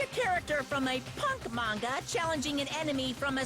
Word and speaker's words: manga: It's not mango. It's obvious you can't win. Never was too sure on how to pronounce manga.